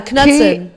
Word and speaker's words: Knudsen: Knudsen is Knudsen. KNUDSEN. Yeah, Patricia I realized Knudsen. just now when you pronounce R like Sigur Ross, that was what we say, but you say Sigur Ross.